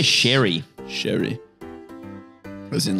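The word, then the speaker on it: Ceri: How do you say this name? C-E-R-I. How would you say that? I would say Sherry.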